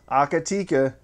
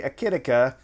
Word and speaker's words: Akitika: sith audio holiday helpers the tikka that's how they say it akatika even though there's no a right there it's an eye i say akitika i guess you can